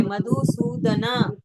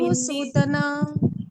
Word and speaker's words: मधुसूदन: मधुसूदन, सूदन नहीं, ये संस्कृत पढ़ रहे, मधुसूदना, सूदन हम हिंदी, मधुसूदना हाँ, हिंदी में हम ऐसे पढ़ेंगे मधुसूदन, पर संस्कृत में पूरा उच्चारण होता है मधुसूदना।